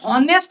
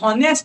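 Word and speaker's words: honest: এপ্রোপ্রিয়েট article দেখ অনেস্ট তো এই আমরা তো অনেস্ট বলি না বলি হি ইজ এ হনেস্ট ম্যান নয় যদি কাউকে বলি হনেস্ট ম্যান কি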